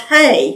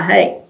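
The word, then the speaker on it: ה: the letter H and it's pronounced hey like h a y hey and I have heard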